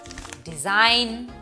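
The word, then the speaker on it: design: হতে পারে যেমন সাইন ডিজাইন ফরেন এই সকল শব্দে কিন্তু জিটা সাইলেন্ট আবার অনেক সময় জি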